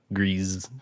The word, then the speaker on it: Gris: Yeah, it's probably pronounced a little different. Yeah, it's like Gre like a like a soft S, I think.